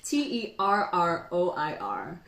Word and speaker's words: terroir: it's another French word to rock to rock te r ro ir sir yeah wow yeah it's like pronounced terroir and I literally went to Google